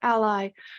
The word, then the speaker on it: a11y: It removes 11 characters between A and Y. And I also love it because it's frequently pronounced ally or ally, which means a friend of or an associate of. And I like to try